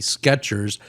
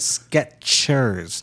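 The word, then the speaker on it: Skechers: I got the sketches, you know, because of the way we are pronouncing it. Sketchers. So, we think it's a T in there.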